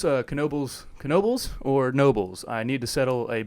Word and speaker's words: Knoebels: way question of the day boys do you pronounce Knoebels Knoebels or Nobles I need to settle a bet with a